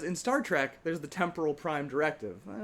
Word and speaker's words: temporal: The word's temporal. It's not temporal, it's temporal. Accent on the first syllable. Have you guys not been watching Star Trek? Because in Star Trek, there's the temporal prime directive.